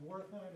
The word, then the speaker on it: Wertheim: And Wertheim, is that the correct pronunciation? That's correct, yes.